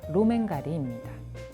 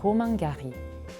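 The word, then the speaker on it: Romain Gary: 프랑스 작가 로맨 가리입니다. 프랑스식 발음은 로만 가리, 본명은 로만 카체프.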